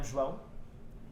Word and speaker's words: João: I'm João. As you can see, I pronounce that in a way that usually most people can't.